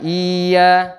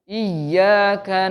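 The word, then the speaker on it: إياك: Jadi bacanya iya, jangan masuk ke hidung Pak ya, kan iya atau sama i-nya juga jangan terlalu panjang, bukan iya, tapi iyyaka na'budu wa iyyaka nasta'in.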